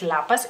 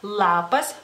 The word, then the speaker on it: lapas: sea es muy notorio ustedes dicen por ejemplo lipa y lapas lapas pero no es lapas en lituano es lapas lapas lipa lipa es la